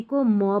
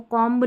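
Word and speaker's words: comb: जैसे इसको थंब नहीं पढ़ेंगे, थम, इसको कॉम्ब नहीं पढ़ेंगे, कॉम, इसको लैम्ब नहीं पढ़ेंगे, लैम्ब, बॉम्ब नहीं, बॉम्ब, बी साइलेंट है, म पे ही पढ़ेंगे।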